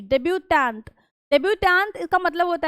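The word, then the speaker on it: debut: डेब्यूट इसका मतलब होता है ट नहीं प्रोनाउंस करते।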